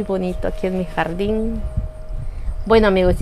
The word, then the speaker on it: Buono: Yo lo llamo Filodendro José Bueno, pero parece que se pronuncia Buono, algo así.